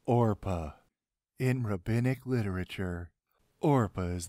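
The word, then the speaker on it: Orpah: important anyway opilia Orphus Oprah Orca Satan it's pronounced orpa in rinic literature Ora is the mother of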